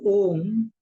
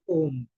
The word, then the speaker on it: Om: you start chanting another Om. Akar, Ukar, Makar, उसके बाद अर्धा मात्रा या you can say some state of silence, then inhale completely, and again Akar, Ukar, Makar सहित ओंकार का उच्चारण करना है.